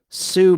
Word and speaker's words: Sioux: She was in the movie The Great Sioux Massacre. That's spelled S-I-O-U-X, like Sioux City.